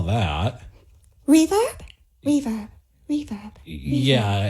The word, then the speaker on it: Reverb: Reverb. Yeah, it's just like verb, but a R-E in front.